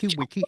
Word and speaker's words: Weick: me that day it's supposed to be Veek, which yeah, the way I've heard it pronounced is like a DJ scratching a record, so it's like Carl Wiki. Yeah, I think is how you pronounce it properly in in the native tongue.